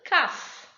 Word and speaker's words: calf: Now for letter L to be silent, if it comes after the vowels, it is not pronounced. For example, calf, half, it is not half, it is half.